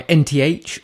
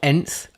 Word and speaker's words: Nth: at two watches by nth or nth depending on how you want to pronounce it Kris Vail the owner says it could be either way so we're gonna look